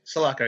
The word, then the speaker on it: Sulaco: So this, so we're on the Sulaco. I want to say that's how you pronounce it. Correct me if I'm wrong. Yeah, Sulaco, yeah.